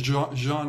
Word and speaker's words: Juan: my full name is Jean actually but uh I would always joke that my parents couldn't spell they wanted the French pronunciation and they spelled it the Spanish way I have no Spanish